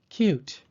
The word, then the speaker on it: cute: Cute is spelled C-U-T-E. Because there is a silent E after the T, the U in cute takes the long U sound.